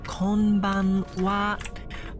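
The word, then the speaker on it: こんばんは: frustrated by the fact kban or uh good evening in Japanese is spelled Konan regardless of being pronounced kban uh it's called Pokemon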